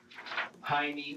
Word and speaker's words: Jaime: The J in Jaime here is pronounced with an H sound, like it would Okay. be pronounced in Spanish. But Michael and the detective pronounce Jaime with the J sound.